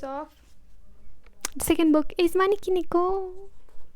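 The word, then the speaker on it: Maneki Neko: The second book is Maniki Niko. Sometimes I I say it wrong. I say Mano Niki instead of Maniki Niko even though Neo is cat in Japanese in case you didn't know.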